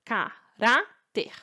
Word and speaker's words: caráter: recebe acento ou não você vai separar em sílaba caráter qual é a mais forte pra caráter a